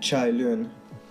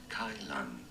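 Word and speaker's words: Cai Lun: Isaac Newton, Confictus, and Chai Lun. Wait, I'm just gonna see if I've pronounced that correctly. What is the correct pronunciation for it? Kai Lan. My bad. Kai Lan.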